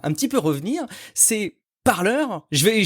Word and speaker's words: Parler: petit peu revenir c'est parleur je vais j'ai décidé de le prononcer comme ça maintenant à l'américaine parleur qui est cette plateforme